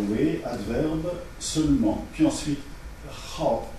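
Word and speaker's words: 好: Puis ensuite, Hao, prononcé ici au quatrième ton et non pas au troisième, qui signifie aimer.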